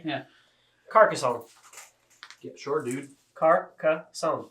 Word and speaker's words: Carcassonne: Carcassonne. Sure. Like croissant.